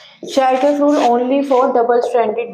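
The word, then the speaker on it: Chargaff: शेरगेफ rule लिखो। सब अपने अपने प्रोनाउंसिएशन करते हैं। मैं पहले शेरगेफ बोलती थी तो मेरे सर ने बोला शेरगेफ बोलते हैं।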